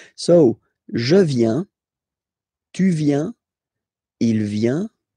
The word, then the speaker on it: je viens: So the first form is je viens. Je viens. Okay, remember this I, viens, viens, and then this nasal, final S not pronounced, je viens, tu viens,